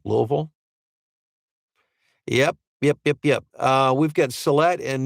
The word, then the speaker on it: Louisville: Notice how I said it like the locals say it, Louisville?